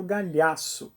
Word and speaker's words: Gagliasso: autor se chama Bruno Gagliasso sobre o nome dele é italiano e eu GL no italiano tem o mesmo som do nosso LH logo esse G é mudo quem nunca teve um